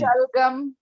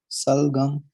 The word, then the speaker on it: shalgam: Shalgam. Say shalgam. Salgam. No, it's not salgam. Work on the sh sound.